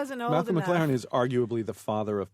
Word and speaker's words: McLaren: what did I say Oh I thought you said Malcolm mcir no McLaren okay I said McLaren that is correct I was a sex